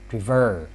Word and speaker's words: prefer: the first word is prefer when you see the word prefer the stress is stressed at this second syllable so we add the